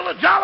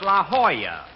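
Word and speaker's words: La Jolla: over here at the Lalo Auto court all right Rochester I found out that's pronounced La Hoya it turned out to be a Spanish word don't don't I should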